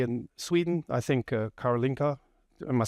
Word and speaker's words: Karolinska: So that, let's say in Sweden, I think Karolinska, am I saying it right? It's Karolinska, sorry, is a very esteemed hospital and works with Charité in Berlin, where I'm from, big hospital.